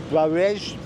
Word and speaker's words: Brawijaya: So again, pronunciation, it's called the Brawijaya, it's on the screen there, museum.